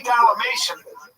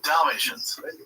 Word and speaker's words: Dalmatian: When you say Dalamation and you said you have spots. Dalmatian. That's what I said. Dalmation. How do you say it? Dalmatian. Dalmatation. That's what I said. Say Dalmatian.